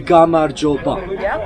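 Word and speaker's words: გამარჯობა: So how do we say hello in Georgian? It will be Gamarjoba. Gamarjoba.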